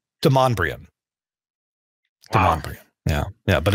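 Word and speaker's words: Demonbreun: It's spelled as if you would pronounce it Demon Briun. And that doesn't roll off the tongue very well, Demon Briun, but that's how it's spelled. Right. It's pronounced Demonbrion.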